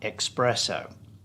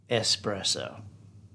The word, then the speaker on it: espresso: it is not especially it is not xscape and is not expresso especially escape espresso x out the x okay now this